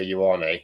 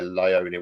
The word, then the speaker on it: Ioane: on the night, Tom, his name is Venga Ioane, not Vega Lione, whatever you want to say.